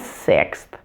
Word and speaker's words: sixth: we need to do for the word sixth is we need to quickly and smoothly blend that final S sound making up the X with the voiceless th so let's try combining